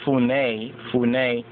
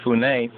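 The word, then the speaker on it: Funnye: Capers C. Funye Jr., pronounced Funé, born in 1952.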